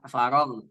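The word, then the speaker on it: فرغ: Fa idza faragh. Nah ini faragh. Faragh. Go-nya jangan seperti faragh. Faragh ya. Maka dibacanya go.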